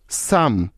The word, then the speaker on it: psalm: এখন এস এর আগে পি সাইলেন্টের কিছু উদাহরণ, যেমন psychology, PSYCHOLOGY, psychology. Psychic, PSYCHIC, psychic. সাম, PSALM, সাম।